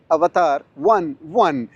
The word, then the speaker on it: Avatr 11: को बनाया है और इसको प्रोनाउंस स्पेसिफिकली आपने 1-1 करना है, 11 नहीं करना। इसके पीछे लिखा है 11, लेकिन देखने वाला यही कहेगा, लेकिन कंपनी की तरफ से ये स्ट्रिक्टली जो है वो आपने ऐसे प्रोनाउंस करना है कि अवतार 1-1।